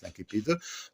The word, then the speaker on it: incipit: Alors, ça, c'est où l'incipit, hein, la latine on prononce l'incipit, donc l'incipit, et puis nous allons, si vous voulez, la situation initiale, et on passe maintenant aux péripéties.